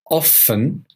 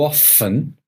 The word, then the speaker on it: often: correct you can say often often how often or you can hear the T how often how often